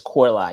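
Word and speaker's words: Coralie: I always say Farjat, but I believe it's Korlai.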